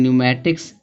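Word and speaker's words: pneumatics: पी आया है तो पी साइलेंट रहेगा। इसको पढ़ेंगे न्यूमेटिक्स माने होता है वायु शास्त्र होता है।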